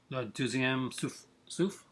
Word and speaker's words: Le Deuxième Souffle: pronounce for me again because I hate the pronunciation of this movie. Le Deuxième Souffle?